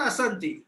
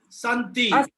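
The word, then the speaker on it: सन्ति: Not Asanti, Santi.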